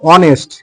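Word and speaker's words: honest: লিখতে পারি যেমন তোমার অনেস্ট এইচ এনই এসটি অনেস্ট অনেস্ট দেখ অনেস্ট অনেস্ট এখানেও কিন্তু আমরা এইচ এর সাউন্ড পেলাম না।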